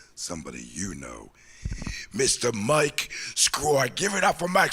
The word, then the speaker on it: Sgroi: My last name is Sgroi. It's an Italian last name. And it's only 5 letters, my last name. It's spelled Sgroi.